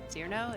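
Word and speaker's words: Cirno: I don't exactly particularly know why, but like my brother assigned Tuhu as Cyrno. Cyrno?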